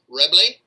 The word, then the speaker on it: Reble: Our winemaker, his name is Alex Reble. I like to call it Rebel because that's the way it's spelled, and I can, as you